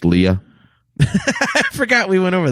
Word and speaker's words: Leia: So yeah, I really it's pronounced Leia.